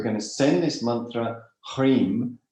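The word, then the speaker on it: hrim: to send this mantra hreem h r i m right pronounced up through the central channel making it very nasal at the nasal area to pierce through the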